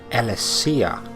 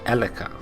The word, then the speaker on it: Alessia: discovered i was mispronouncing she is in fact alessia not eleka so i shall do